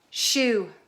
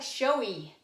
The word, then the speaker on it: shoe: It looks like showy, but it's shoe, and you wear them.